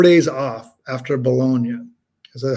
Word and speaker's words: Bologna: So I have, I think, 4 days off after Bologna. Is that how you say it? Bologna, right?